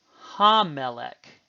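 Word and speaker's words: הַמֶּלֶךְ: Ha plus a doubling of the first consonant of the noun. For instance, melech, which glosses as king or a king, ha-melech, the king, and notice the Doggish in the mem.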